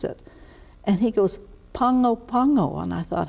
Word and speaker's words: Pago Pago: was said nice as well how do you pronounce it and he goes Pongo Pongo and I thought how did he get that